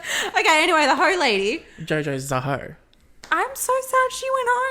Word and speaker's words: Jojo Zaho: Because I was pronouncing it like Jojo Zaho. Yeah, fair. Which, if I say it slowly like that, it doesn't make sense. But if you say it like Jojo Zaho, that's fucking iconic.